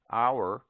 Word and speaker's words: hour: Omit the H in heir, heiress, herb, honest, honor, ostler, hour, humor, and also in their derivatives.